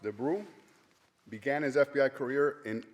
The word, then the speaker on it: de Brueys: Warren DeBrew, pronounced DeBrew, began his FBI career in August 1950 at the FBI Training Center in Quantico, Virginia.